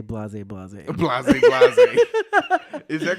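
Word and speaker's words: blasé: Because it's not Blaze, Blaze.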